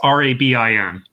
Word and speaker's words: Rabin: It's Rabin.